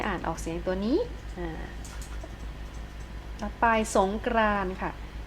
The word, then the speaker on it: สงกรานต์: อ่า ว่า จะ ไป สงกรานต์ ค่ะ สงกรานต์ ตัว อะไร การันต์ คะ เดช มี ตัว ต่อ เต่า การันต์ นะ คะ เรา จะ ไม่ อ่าน ออก เสียง ตัว นี้ เนื้อ หา ต่อ